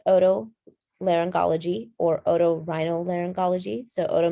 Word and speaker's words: otolaryngology: a little bit more about ent so it's pronounced oto laryngology or otorhinyl laryngology so oto means ears laryngology